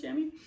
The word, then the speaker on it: chamois: And their chamois shirts, the men's chamois shirts, chamois is how that's spelled, but I believe it's pronounced chamois, was something I was looking at.